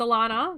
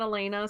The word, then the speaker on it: Alana: wrong all the time it's Alana not Elena so they I've always